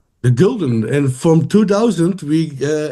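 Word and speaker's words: Gulden: The golden.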